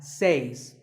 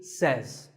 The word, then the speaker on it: says: number two is says this word is commonly mispronounced by people learning English as seis but remember I say you say but he or she says number three is etc